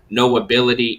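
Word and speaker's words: Know Ability: now on all platforms no ability is sean crutch's um brand that he represents is all about knowing that you have an ability so it sounds like no ability but it's spelt k-n-o-w ability so knowing you have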